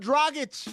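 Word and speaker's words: Dragić: Goran Dragich. It's like a dragon with an itch.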